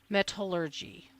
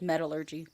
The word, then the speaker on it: metallurgy: the FBI laboratory and an expert in forensic metallurgy. How do you say it? It's metallurgy.